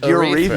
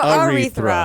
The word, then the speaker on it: Erythra: Her name is Erythra. Oh, Sorry, did you great. say urethra? Yeah, No, Erythra. Erythra. Not Aretha. Erythra.